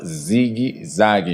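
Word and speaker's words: zigue-zague: menos 60 se llamaba zigi zagi en portugués el la palabra zigzag se se escribe y se pronuncia zigi zagi Ah Noa se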